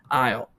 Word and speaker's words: isle: i s l e what's what's up with the what's up with you know the Irish and not and having letters in there and then just like forgetting about them Irish and French are too dumb languages isle is just a normal English word dude yeah but stupid because you don't have that you again you don't have the S and same with Island